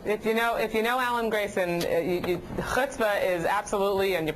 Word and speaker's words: chutzpah: That's what you call chutzpah.